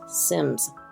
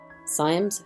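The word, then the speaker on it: Symmes: in America there was John Cav's Sims Sims it's spelled s y mm s the illustrations themselves are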